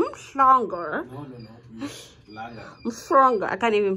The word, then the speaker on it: Umhlanga: You're not in Umhlanga. You're not in Umhlanga. You're in Umhlanga.